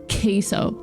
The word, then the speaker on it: queso: order cheesee I say queso because that's how Americans pronounce keso because if I say queso everyone's going to look at me weird now there's a chance that